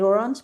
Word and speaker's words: orange: Sí, sí, también que lo pienso también también como en español, como en inglés quiere decir orange, pero se dice orang, no se dicen, pero